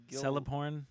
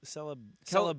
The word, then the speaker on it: Celeborn: the Celeborn. Celeborn is the. Celeborn. Yeah. Yeah, that's Galadriel's husband. right. He's the Yeah, it's Lorien dude. tricky because all the C's are in Elvish are pronounced with a K.